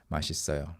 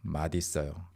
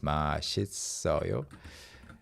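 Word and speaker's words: 맛있어요: Masisseoyo matisseoyo. Not a very good explanation, but some people do say because of this phenomenon, matisseoyo is sometimes heard, but the standard pronunciation is masisseoyo.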